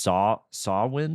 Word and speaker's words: Samhain: It looks like Samhain, but I think it's pronounced Samhain or something.